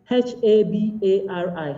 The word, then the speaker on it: habari: And like one of the speakers in that story mentioned, it is just written as it is spoken. So habari is just written in those three syllables. It's basically H-A-B-A-R-I, habari.